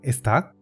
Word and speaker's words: ezta: Ese «¿no?» se traduce como «ezta?», que es una contracción de "ez + da". Como he comentado antes, la <d> se pronuncia como una <t> cuando va después de “ez” Y poco más.